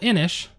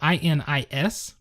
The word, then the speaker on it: Inis: So Inis, it's spelled I-N-I-S, and it is a Celtic word, or I don't know if it's a deity in the ancient Celtic society.